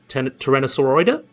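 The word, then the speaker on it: Tyrannosauroidea: a very basal member of tyrannosauridae or tyrannosaurus tyrannosauroida that's actually pronounced that's the proper one so would have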